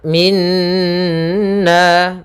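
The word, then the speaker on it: مِنَّا: Maka kemudian lafal minna, pada lafal na atau nun bertasydid di sini kita namakan dengan bacaan gunnah. Yaitu cara membacanya adalah suara nunnya ditahan dulu. Min, baru masukkan kepada nanya. Min, 2 harakat nya baru kena.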